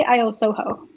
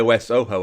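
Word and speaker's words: iOSoHo: you actually say it i say i owe soho i owe so okay i always thought it was like ios soho or something i don't know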